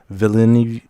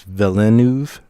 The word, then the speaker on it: Villeneuve: Well, first of all, it was directed by this guy named Denis Villeneuve. I can't pronounce his name. I think it's Villeneuve.